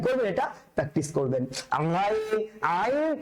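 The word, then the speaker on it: عين: আইনের উচ্চারণটা হবে হায়ের মতন করে। এখন আপনি যদি আসলে লক্ষ্মী ছেলে মেয়ে হয়ে থাকেন তাহলে কিন্তু আপনি বলে ফেলতে পারবেন হায়ের উচ্চারণটা যেন কই ছিল? কণ্ঠনালীর মধ্যভাগ। তাহলে আইনের উচ্চারণটা কোথেকে হবে? কণ্ঠনালীর মধ্যভাগ। কারণ তারা কি সেম এক কালার, তারা কি সেম এক কালার। কথা কি বুঝতে পেরেছেন? একই মায়ের পেটের দুইজন ভাই, বুঝতে পেরেছেন?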